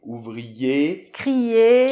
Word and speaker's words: ouvrier: Donc voilà, donc papier, ouvrier. Crier, exactement. Pas de R, on le prononce pas là.